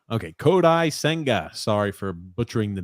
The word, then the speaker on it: Kodai Senga: of the island sorry Andrew L said it's pronounced kodai senga okay kodai senga sorry for butchering the name as I always